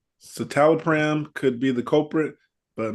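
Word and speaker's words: citalopram: Silro mean citol or pre I'm going to spell it c i t a l o p r a m satalopram satalopram satalopram okay this sounds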